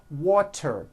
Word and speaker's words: water: So if a letter T falls between 2 vowel sounds, which are voiced, so if it falls in the middle of vowels, then the T is pronounced as a D and the whole word is voiced.